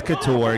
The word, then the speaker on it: Couture: head of calvin couture he told me it's couture you just don't know how to how to pronounce words correctly that sounded more like